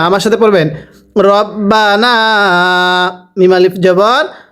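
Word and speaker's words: رَبَّنَا: সামাও এরপরে রবাবর বা রব্বা নুন আলিফ জবর না রব্বানা এটা যদি কেউ রাব্বানা পড়ি রকে রা পড়ি পড়া শুদ্ধ হবে না আমার সাথে পড়বেন রব্বানা আলিফ জবর মা এক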